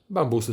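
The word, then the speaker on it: bambù: Bambusy są łatwe w utrzymaniu. Słowo bambu skoro ma akcent na końcu, widzimy tę kreskę, wiemy, że się nie zmienia.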